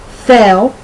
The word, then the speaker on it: fell: So the difference between the short E and the long A in the words fell, F-E-L-L, I fell down the steps, and fail, I failed 4th grade, or I will fail 4th grade, it's so close that sometimes I wonder if I even say the difference.